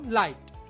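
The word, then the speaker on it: light: যেমন লাইট এখানে GH silent আছে।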